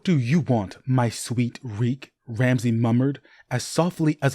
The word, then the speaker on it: Reek: Your reek, just reek. It rhymes with freak.